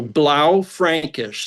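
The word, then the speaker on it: Blaufränkisch: So, blau Frankish.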